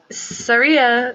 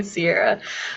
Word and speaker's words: Sierra: right Jen and then Surya Sorry Sorry Sierra Sierra Sierra wow I've been saying your name wrong the entire night it's definitely Sierra all right anyways point